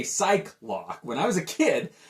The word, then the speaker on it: Psylocke: You got some of the old school with Beast and Iceman against the newer members like Psylocke and Colossus. It's hard for me not to say Psylocke.